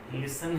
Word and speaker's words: listen: तो आप इसमें ध्यान रख लें कि जैसे कभी कभी हम बहुत सारे ऐसे वर्ड हैं, जैसे हैसन है, लिसन है, तो इसमें ध्यान रख लें कि किसी